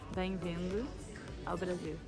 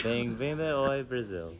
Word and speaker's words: Bem-vindo ao Brasil: How do you say it? Bem-vindo ao Brasil. Say it. Bem-vindo Brasil. Bem-vindo oi Brasil.